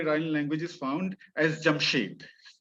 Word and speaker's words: Jamshid: language is found as jamshed jamshid as iranians would pronounce it so jamshed is would